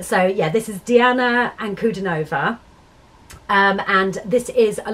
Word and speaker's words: Ankudinova: now on um so yeah this is diana and kudanova um and this is a live performance of